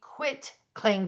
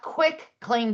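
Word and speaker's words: quitclaim: Then the third type of deed I want to highlight is a quit claim deed, not quick claim deed.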